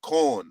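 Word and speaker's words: Quorn: And then you got this called corn. It's spelled Q U R N.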